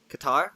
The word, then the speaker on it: Qatar: Qatar? Okay. In English, it's pronounced Qatar.